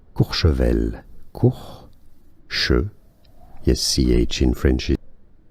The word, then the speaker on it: Courchevel: In France, it is said as Courchevel.